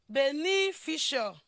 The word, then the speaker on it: beneficial: Now, when you look at this word, it is actually the second syllable of this word that will be stressed.